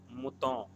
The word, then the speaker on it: Mouton: Again, I'm repeating, the name of this wine is Chateau Mouton. ON is pronounced as O, Chateau Mouton Rothschild.